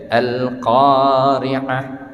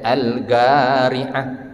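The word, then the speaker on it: القارعة: orang Arab sendiri ya alqari'ah alqariah kalau orang Arab Saudi enggak belajar tajwid dibacanya algariah algariah salah ya ya alqariah bacalah qaf dengan huruf qaf Nah kalau kita pergi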